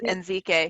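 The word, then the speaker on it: Ezike: perspective doctor and doctor I might not pronounce her name correctly in Zeke gay it and I think it's NZ gay yeah who who speaks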